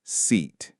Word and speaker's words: seat: Let's start with seat. This is the long e sound. To make it, you need to smile. Your lips should be pulled wide and your tongue is high and forward in your mouth.